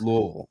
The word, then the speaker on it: Louisville: said the other day it's it's pronounced Louisville so listen we're gonna